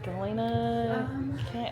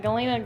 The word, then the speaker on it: Galena: cute do y'all have any magnets with specifically Galina or am I saying it right Galina Galina Galina Galina we've got the best we've